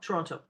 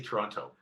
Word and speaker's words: Toronto: how do you say Toronto? Toronto. You say Toronto Absolutely. always? I breathe that last T just a little bit.